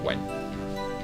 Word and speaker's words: Wan: Wen like the number. It's spelled W-A-N, but you pronounce it like the number, Wen.